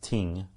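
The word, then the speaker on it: 听: The word in Chinese, to listen, which is pronounced ting, T-I-N-G, is how it's often transliterated into English.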